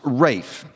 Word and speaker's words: Ralph: Although his first name is spelled R-A-L-P-H, it's pronounced Rafe.